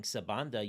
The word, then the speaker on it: Sebanda: And no matter where in the country you grow, it's gonna be pronounced Sabanda. There's only one way to pronounce it, right?